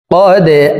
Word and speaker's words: قد: সুম্মা লা ইয়ামুতু ফিহা ওয়া লা ইয়াহইয়া فيها ولا يحيا ثم لا يموت فيها ولا يحيا قد أفلح দাল কলকলার হরফ নিচের দিকে ধাবিত করে ধাক্কা দিয়ে উচ্চারণ করব।